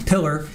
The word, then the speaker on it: Pillar: So yesterday we heard from Detective Ryan Pillar, everybody says his name wrong, Pillar.